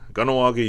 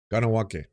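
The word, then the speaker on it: Kahnawake: Here's how you pronounce it: Kanawake, Utah's garage. Kanawake. Kanawake.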